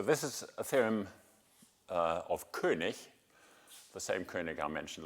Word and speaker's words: König: And I asked him, is it König or König? And he said, König. Yeah, but it's the German word, and they pronounce it faithfully.